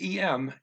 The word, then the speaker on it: em: but they actually use em, a. You don't. The m is a nasal. Almost all n's and m's, a whole lot of situations are nasals inside words.